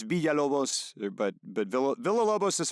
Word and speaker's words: Villalobos: Before I say this, before I butcher this, uh, Filobos, correct?